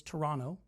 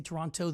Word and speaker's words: Toronto: And by the way, just so you know, it's Toronto. We pronounce it that way. If you say Toronto, they know you're not from there.